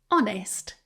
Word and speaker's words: honest: Honest, silent H.